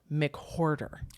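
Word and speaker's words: McWhorter: nasty words by john mchorder oh and and his last name is spelled like hoarder like a which i find very great john mccorder and um and then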